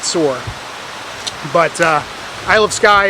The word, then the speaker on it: Saor: and she said that it actually is pronounced soar the band so not sayor but sore but uh Isle of